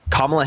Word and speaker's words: Kamala: And it's Kamala, by the way.